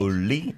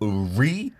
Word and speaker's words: 우리: Not Right. uli, not uri, but uli.